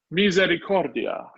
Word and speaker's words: misericordia: that's a fun word the stress is on core misericordia so you do put